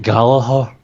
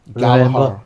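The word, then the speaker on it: Gallagher: So, next we have Jack Gallaer versus a Oh, you to pronounce it. Galahar. Galahar.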